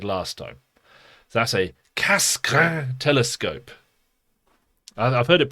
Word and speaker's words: Cassegrain: So here is a Cassegrain telescope. That's my best attempt at French pronunciation.